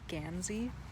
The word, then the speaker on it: Guernsey: so guernsey is g-u-e-r-n-s-e-y also sometimes pronounced and spelled gansey and so this is